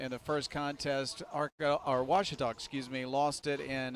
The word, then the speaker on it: Ouachita: university back in texas everybody pronounces it wichita but really it's ouachita washington how would you pronounce it it's washita baptist university get it